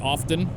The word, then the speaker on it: often: not often okay I don't come around here often it's often the same as likes often to